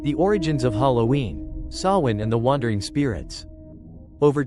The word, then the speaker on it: Samhain: the living chapter 1 the origins of Halloween sawin and the wandering Spirits over 2.0000 years ago in the wild and dense forests of ancient Europe the Kelts celebrated a festival they called sawin pronounced soen it was not a joyous event but a